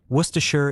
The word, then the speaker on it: Worcestershire: Worcestershire is a place name that was compressed by local speech over a thousand years until only two syllables remained from 14 letters.